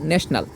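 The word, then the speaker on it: national: ও এন এল ন্যাশনাল আমরা জানি টির উচ্চারণ সাধারণত ট হয় কিন্তু এখানে টি এর পরে যদি আই ও হয় তখন টির উচ্চারণ হয় তালিব্য যেমন আমরা ন্যাশনাল বানান করতে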